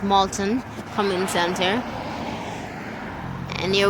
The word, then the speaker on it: Milton: mate we are at Milton community center oh sorry it's pronounced Moulton from in center and